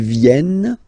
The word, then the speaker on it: viennent: And the rule in French is that when you get this E and a double vowel after, you will have to pronounce this E like E. Alright? So, vienne, vienne, vienne, vienne. Okay? Ils viennent, elles viennent. Ils viennent, elles viennent. Alright? E-N-T, you don't pronounce them.